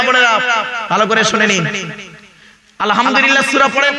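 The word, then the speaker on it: الحمد لله: ভালো করে শুনে নিন আলহামদুলিল্লাহ সূরা পড়েন না আলহামদুলিল্লাহি রাব্বিল আলামিন আলহামদু এই গলার ভেতর থেকে হেটা উচ্চারণ করবেন বাপেরা হাতে ধরে বলে যাচ্ছি আলহামদুলিল্লাহ মানে হচ্ছে সমস্ত প্রশংসা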